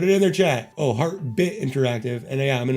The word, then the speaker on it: Heartbit: I just pronounced the word wrong the first time. It's Heartbit Interactive, and I'm in Heartbit Interactive's Discord.